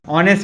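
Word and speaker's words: honest: ऑनेस्ट के साथ एन लगता है, कल ही बताया था, ओ से प्रोनाउंस करते हैं, द नहीं लग सकता।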